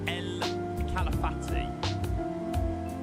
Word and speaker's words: El Calafate: You pronounce El Calafate, El Calafati.